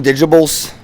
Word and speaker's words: Digitables: I got it from Digitables. It's really weird and hard to say Digitables. Google them. Yeah, see, Digitable. That's how you say it. It's a Digitible. And I got it from